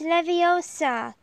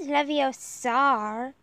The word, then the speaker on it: Leviosa: someone's eye out besides you're saying it wrong it's Leviosa not leviosar when guardian Leviosa that's